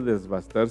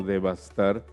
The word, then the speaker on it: devastar: Y no, en primer lugar no se dice desbastar, sino devastar cuando se arrasa con algo.